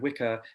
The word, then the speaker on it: Wicca: And actually the word Wicca should not be pronounced like that at all, like W-I-C-C-A. It's an Old English word, and it's meant to be pronounced like witcher.